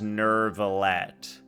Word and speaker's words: Neuvillette: As someone who knows how to pronounce things in French, I hate that she says Neuvillette. There's no R! There's no R in Neuvillette.